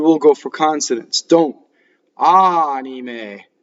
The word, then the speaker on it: anime: Okay, d'anime. What I hear in this word wrong, the N's and the M's become double when somebody isn't careful.